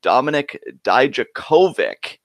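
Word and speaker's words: Dominik Dijakovic: we got the debut of Dominic dye Djokovic as we're now learning it's pronounced and the steel cage main event did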